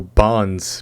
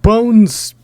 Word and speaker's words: Bones: I was walking by, someone said, oh yeah, the Studio Bonds panel. Like, look, I've heard many pronunciations of like Studio Ufotable, Ufotable, UFO table, but Bones is Bones.